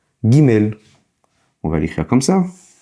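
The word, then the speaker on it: גימל: La troisème lettre de l'alphabet s'appelle le guimel. Comme vous l'entendez, guimel se prononce en fait, c'est l'équivalent du G en français, le G. Gimel, on va l'écrire comme ça.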